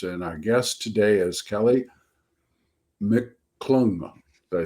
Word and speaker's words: Kely Mcclung: Today, the topic is thriller writers, and our guest today is Kely Mcclung.